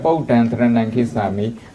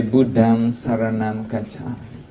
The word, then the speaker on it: Buddham Saranam Gacchami: So instead of Buddham Dharanam Kisami, we usually say Buddham Saranam Gacchami.